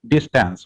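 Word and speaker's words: distans: uh this particular sorry you can pronounce it as a distance okay this tense d-i-s-t-a-n-s okay a distance so symbol distance is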